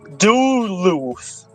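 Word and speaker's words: Duluth: it wrong it's d l u t h do loose d l d l u t h spell that again Del what did you say d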